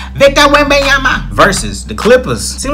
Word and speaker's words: Wembanyama: Victor Wembanyama versus the Clippers.